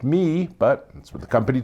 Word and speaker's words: MIIIW: fully understand how m i i w is pronounced me but that's what the company tells me so